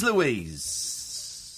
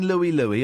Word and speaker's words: Louise: I'm not allowing Louis, obviously, because that's Louis. Because Louise is such a great name, Louise. You can make people chanting it. It's 2 syllables.